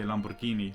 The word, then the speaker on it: Lamborghini: It's like in the beginning when I said Lamborghini is what I used to say, and now I say Lamborghini like you're supposed to.